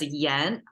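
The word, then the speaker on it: 言: okay so the left side means speaking it's pronounced as Yen by itself its own word as well as well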